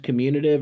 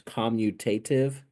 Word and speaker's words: commutative: Pronounced commutative or sometimes commutative.